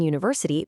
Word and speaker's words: university: And because the U in university makes a U sound, it acts exactly like a consonant.